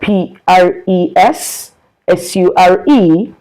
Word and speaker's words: pressure: The word P R E S S U R E is pressure.